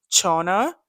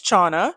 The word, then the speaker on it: Chona: Forgive me if I'm pronouncing her name wrong, but I did Google it. It said Chona. So Miss Chona, Chona.